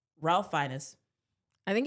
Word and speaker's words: Fiennes: I'm probably gonna pronounce this wrong. Ralph Fiennes.